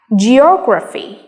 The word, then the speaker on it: geography: graphy we have geography so if you count from the last syllable Fe graph or we have geography or communicate if you